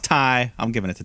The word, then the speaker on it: Tay: great performance here uh it's spelled tay but it's pronounced tai i'm giving it to ty conte uh yeah future